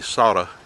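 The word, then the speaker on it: Sauta: saudi creek i guess the correct way to say it will be soda s-a-u-t-a and that creek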